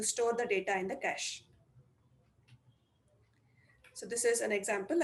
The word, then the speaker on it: cache: It's also written sometimes as dollar to represent cash because that's how it's pronounced. So cache is nothing but a small fast onchip memory.